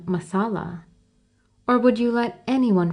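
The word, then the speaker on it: Messala: and how the people gradually corrupted the pronunciation and called him Masala.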